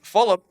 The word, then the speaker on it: Fulop: And so Steve Fulop, because I said his name wrong on the last podcast, I kept saying Falup as if it's like as if it's like a Fruit Loop or something.